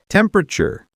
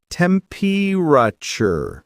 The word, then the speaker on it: temperature: Temperature. Say temperature. Not tempture.